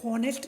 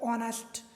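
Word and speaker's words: honest: अब देखिए ऑनेस्ट, अब एच से स्टार्ट हो रही है तो हॉनेस्ट नहीं बोलते इसे, हम इसे बोलते हैं ऑनेस्ट, ठीक है, तो ओ से स्टार्ट हो रहा है, ऑनेस्ट, ठीक है। स्पेलिंग कहाँ से स्टार्ट हो रही है, एच से, लेकिन उच्चारण कैसा आ रहा है, ऑनेस्ट, एच साइलेंट है, तो इस बेस पर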